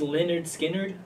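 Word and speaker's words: Lynyrd Skynyrd: Alright, coming in at my number 2 is pronounced Leonard Skinnard.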